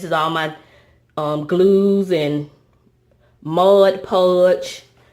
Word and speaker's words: Mod Podge: And so on this first shelf, this is all my glues and Mod Podge, M-O-D Podge, not M-O-D-G-E. I usually say it wrong.